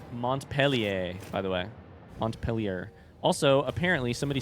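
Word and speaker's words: Montpelier: You pronounce it. M peel ear.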